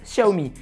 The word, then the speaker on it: Xiaomi: prix défiant toute concurrence ah au fait on prononce Xiaomi et si vous pensez que j'ai tort mais